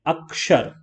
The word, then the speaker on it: अक्षर: तो इसमें आप देखेंगे जब शा का प्रोनाउंसिएशन करते हैं तो हम का को भी साथ में बोलते हैं, अक्षर, अक्षर बोलते हैं ना।